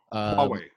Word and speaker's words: Huawei: company, and I don't know if I can pronounce it right. Is it Huawei? Huawei. Huawei.